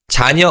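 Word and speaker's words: 자녀: Chanya also refers to children.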